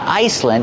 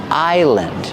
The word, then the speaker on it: island: Remember the S is silent. It's not Iceland. It's island. This is a big island.